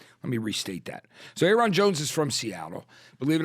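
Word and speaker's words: Ayron Jones: at After Shock where I'm calling him um naron Jones nylon Jones like we like and he was funny he's got a great the correct pronunciation is Aon Jones Aon Jones yes you know he's this great black guitarist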